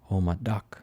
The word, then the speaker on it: Omada: Omada. Kind of rhymes with the Chevy. Remember? Like a rock.